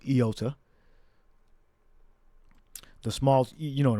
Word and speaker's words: iota: But it may have been actually pronounced with a yota. All right, or a yod. All right, but in the Greek, as we have here, it's pronounced iota.